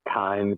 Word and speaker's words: Thyme: I think we're going with a really cheesy name called Thyme to Farm, but the time is spelled like time the herb.